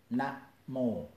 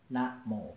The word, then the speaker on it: namo: For example, namo. Two words, easy. Na is short. Mo is long. Different rhythm, namo. Different pronunciation, namo.